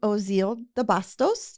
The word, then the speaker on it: Ozeal DeBastos: So I want to present to you all my friend and my colleague, Ozeal DeBastos.